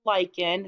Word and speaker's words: lichen: from last week yes it's pronounced like in it's that weird word that you didn't know this is like in on a rock so